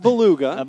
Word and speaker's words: beluga: we've had all day it's pronounced Beluga all right Beluga thank